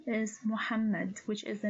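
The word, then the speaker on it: محمد: lidal which has sikon so this name is pronounced as mu muhammad now your turn please try to celebify these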